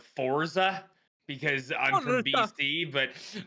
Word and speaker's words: Forza: it wrong is it is it forza it's sports it's italian and well i was going to say this is america i'm western canadian so i call it forza because i'm from bc